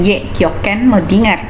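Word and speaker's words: kjøkkenmødding: juga dengan kjokkenmoddinger ya Kapten modinger ini dari bahasa Denmark ya pelafalannya juga seperti bahasa Denmark kita aja itu dibacanya dengan yo yo Ken moddinger kita kemudian di tahap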